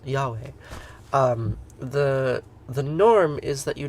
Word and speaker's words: Yahweh: Vav, He, Yud, He, which if you pronounce them in Hebrew, you would pronounce Yahweh.